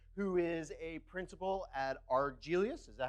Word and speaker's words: Argelius: further ado Matt thank you thank you it's pronounced arg Elias it's a made-up planet from an old Star